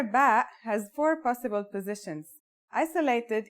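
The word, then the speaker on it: ب: in this lesson don't our first letter of this lesson is ba and yeah it makes a b sound you can remember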